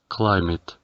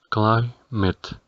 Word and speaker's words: climate: y su pronunciación es climate. Es decir, debemos pronunciar la letra A como si fuera la letra I, mientras la letra E del final no se pronuncia. Climate, climate.